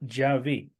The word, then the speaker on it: Yahvé: Hebraístas antiguos alemanes dijeron que el nombre se pronunciaba Yahvé y así lo mantienen hasta hoy y lo mantengo yo también porque es lo que creo.